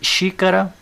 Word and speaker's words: xícara: o Zi ó Zi e xícara xi cara veja que a sílaba tônica é o x viram a antien em